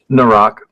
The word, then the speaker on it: Naerok: And can you help me pronounce it? I think it's like now rock or something. The Rock.